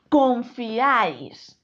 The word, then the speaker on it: confiáis: palabra palabra sí fijaos es una palabra aguda El golpe de voz está en esta sílaba y además termina en